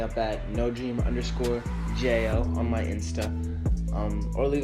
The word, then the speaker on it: Jeo: story yeah oh yeah it's Jo like J oh that's how it's pronounced anyway guys oh I'm